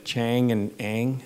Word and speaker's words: Chang and Eng: So I want to go back to Chang and Eng.